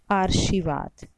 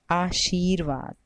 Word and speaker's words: आशीर्वाद: पहले अगर उच्चारण करें और इसका उच्चारण का या आर्शीवाद और तीसरे में भी आर्शीवाद तो हमारा सही शर्त पहला है जिसमें सी में बड़े कि मात्रा है और रेवा के ऊपर आशीर्वाद अब हम अगला शब्द